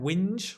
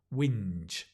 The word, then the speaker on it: whinge: an e right J whinge don't pronounce the h it's a bit like the H in where when you don't pronounce it it's just whinge so do you whinge